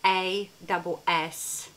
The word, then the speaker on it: Assome: So, you know, like awesome, this is spelled as A-S-S-O-M-E, Assome.